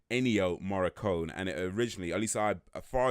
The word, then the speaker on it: Ennio Morricone: me so let me say his name correctly ennio morricone and it originally al-assad far as I'm aware